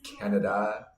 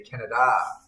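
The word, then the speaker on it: Canadá: There's an accent over the last A, right? So I have to say Canada, not Canada.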